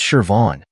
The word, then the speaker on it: Siobhan: It's Shervon, she said. I looked at her resume and tried to make sense of the spelling. Siobhan didn't look anything like Shervon.